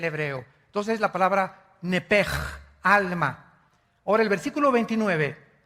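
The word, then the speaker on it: נֶפֶשׁ: La palabra, la letra o las letras sh en del hebreo se pronuncian en hebreo como J. Entonces se pronuncia nepj.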